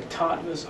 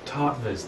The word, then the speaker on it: Tattwas: to light what the tvas are to The Ether how do you say top top it's a w but it's pronounced like a V kind of like a German how polish too yeah